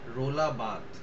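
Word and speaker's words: Roland Barthes: এল এ আর বাথ বি এ আর টি এইচ ই এস আছে কিন্তু উচ্চারণটা হবে বাদ ইনি একজন ফরাসি দার্শনিক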